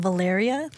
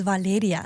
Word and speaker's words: Valeria: But I I hate when people pronounce my name Valyriia. So I just say like, "Oh, if you kind of pronounce it like Valerie, Valerie."